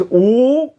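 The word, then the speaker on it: 五: minutes and in chinese the number five is pronounced ooh and i will put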